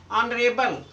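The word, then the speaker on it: honorable: जब किसी शब्द में एच के बाद ओ आए तो आपका एच साइलेंट होगा। Honesty, hourly, ऑनरेबल।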